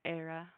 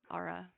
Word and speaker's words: Ara: or someone so yeah how do you pronounce her name Ari araniel araniel but she goes by Era ARA era yeah and how old is